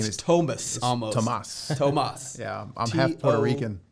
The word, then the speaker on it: Tomas: in my name okay my name is thomas tomas yeah i'm half puerto rican believe it or